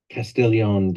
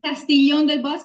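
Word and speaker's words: Castiglion: Selena ptalis Hospitality at castillion debasco did I pronounce all that okay yeah it's castillon but a really good pronounce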